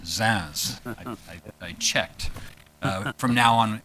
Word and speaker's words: Zunz: Virginia Commonwealth Professor Olivier zans and it is pronounced zans I checked from now on it will be